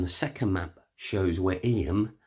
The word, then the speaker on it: Eyam: second map shows where em pronounced aim sits in relation to